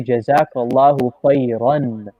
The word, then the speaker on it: Jazak Allah: clay uh and that's it's actually incorrect to say and stop on the raw like that that's incorrect you have to say jazak allah that's the correct way to say it we went over that